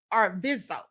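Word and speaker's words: Arvizo: The accuser was Gavin Arvisio, a 13-year-old boy who had been battling cancer. Gavin Arviso, that's the pronunciation.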